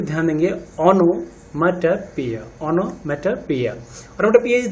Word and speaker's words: onomatopoeia: Pronunciation पे ध्यान देंगे, ओनोमेटोपोइया, ओनोमेटोपोइया।